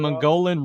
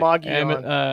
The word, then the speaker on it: Mogollon: cryptid or the Sasquatch living on Mogollon- Mongolian Rim outside of Payson, It's pronounced like, Mogollon.